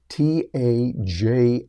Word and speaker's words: Taja: you can use with a tool called Taja t Aja I had to learn how to pronounce that Taja doai and it's going to